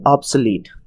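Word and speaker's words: obsolete: हमारा तीसरा वर्ड है ऑब्सलीट, जिसका प्रोनाउंसिएशन आता है ओ बी थोड़ा स्ट्रेस के साथ, बाकी सब अनस्ट्रेस। ऑब्सलीट इंग्लिश मीनिंग होता है नो लॉन्गर यूज्ड और प्रोड्यूस बिकॉज समथिंग न्यूअर और बेटर एग्जिस्ट।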